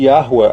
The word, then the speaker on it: Yahua: O rei não tem um som só, é Ar ou Ha. Por isso que a pronúncia tem que ser obrigatoriamente Yahua, até porque Ruá vem